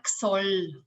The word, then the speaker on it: Ksoll: So Ksoll did I say your last name correctly? How do you say it? It's Ksoll. Ksoll, like an X.